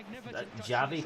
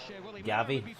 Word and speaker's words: Gavi: Javi coming on. Gavi, sorry I pronounced his name wrong.